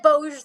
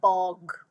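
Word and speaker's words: Bogge: mean tamlin easy yeah but how did you pronounce the bug yes see i said bose the first time too and then i was corrected that it was more like bog ah double g bog double g put the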